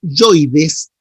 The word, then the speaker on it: hioides: cuando pasó el hueso hioides tiroides les dijo que no estaba con una con un acento pero en la pronunciación se hace como que si tuviera acento entonces te dice hioides eso lo dijeron perfecto